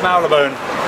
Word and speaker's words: Marylebone: How do you pronounce Marylebone?